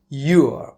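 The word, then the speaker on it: you're: Your, but you pronounce it as your with apostrophe.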